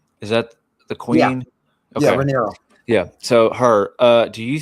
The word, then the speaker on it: Rhaenyra: Jace was very royal, and I think losing him is going to be a bigger problem for Rhaenyra than she realizes, because she hasn't been taking a lot of his advice.